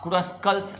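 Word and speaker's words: Kruskal: है Prim's algorithm और अ क्रस कल्स क्रुस कल्स बोलते हैं या क्रस कल्स जो भी आपको बोलना है मैं क्रुस कल्स प्रोनाउंस करता हूं क्रुस कल्स एल्गोरिदम पे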